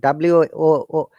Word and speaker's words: work: But according to, because I'm trying to pronounce according to the British IPA, R is not pronounced. You can see, but you can see the second IPA, which is the US IPA, American IPA, R is pronounced. So they will say work. Americans will work. They will pronounce the R.